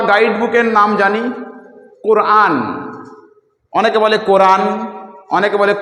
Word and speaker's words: কুরআন: আমরা আমাদের ধর্মগ্রন্থ বা গাইড বুকের নাম জানি কোরআন অনেকে বলে কোরআন অনেকে বলে কোরআন তাহলে আসল